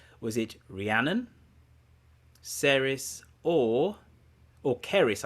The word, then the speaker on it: Ceres: Was it Rhiannon, Ceres, or Keris, I think it's pronounced. Keris. Yeah, it is Keris.